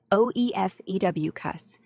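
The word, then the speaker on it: Ophiuchus: Ouricus, pronounced OEF EW cuss, often called the 13th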